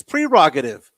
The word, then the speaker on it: prerogative: That's how you pronounce a word. It's prerogative.